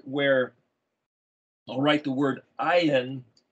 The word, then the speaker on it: ayin: i'll write the word ayan it's pronounced as if it was a y i n but i spell it with an o y i n not because it's pronounced oyen but because it's the